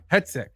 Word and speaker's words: Hegseth: Pete, how do you say his last name? Headset. Hegseth. Headset.